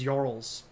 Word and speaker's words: jarls: Pronounced as Jarls. I'm still missing it. I'm sorry. Like Jarl from Skyrim.